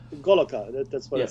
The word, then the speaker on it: Goloka: It actually says Goloka. That's what it says. That's how it's pronounced. That's So right. what you see in Sanskrit is pronounced Goloka.